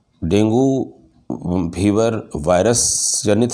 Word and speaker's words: Dengue: मैं आज आपसे आजकल डेंगू फीवर के जो फैला हुआ है इसके बारे में चर्चा करना चाहूँगा। ये डेंगू फीवर, जिसका सही उच्चारण डेंगी फीवर है, डेंगू वायरस से संक्रमित